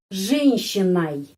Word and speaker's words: женщиной: Terus, с какой женщиной? Женщиной. O ini dibaca A. Kenapa? Karena penekanannya di sini.